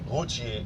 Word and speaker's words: Ruthier: My mother's family, pronounced Routier in French, lived on 10th Street, where she was born in 1909 and lived with her 3 older sisters.